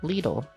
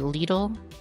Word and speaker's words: Lidl: Wagman next up is leadle I think is how it's pronounced myle always has a